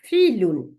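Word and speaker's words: فِعْل: ভার্বটাকে বলে ফিল, বানানটা লিখে রাখেন, ফাজের আইন সুকুন লাম দুই পেশ, ফিলুন।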